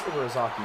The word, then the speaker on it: Ibarazaki: That is how you pronounce her name, okay. Miss Ibarazaki whips and shouts, applauding wildly and generally looking like any other parent cheering on their child.